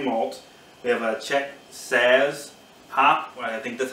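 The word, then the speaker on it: Saaz: We have a Czech Saz hop. I think that's how you pronounce it, S-A-A-Z.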